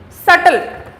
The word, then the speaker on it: subtle: you mean by subtle b is silent subtle come to paragraph number